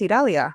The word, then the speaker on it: Idalia: I'm like, yes, you got my first name correct, Italia. Normally I like a Yeah. Yeah. I have to give like a story and like Italy, Italia, but with a D Italia.